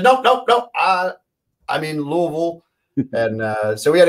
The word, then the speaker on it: Louisville: learn how to pronounce louisville they said just you know don't open your mouth and just mumble through and that's the way